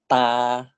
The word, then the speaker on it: ตา: This word is pronounced as ta.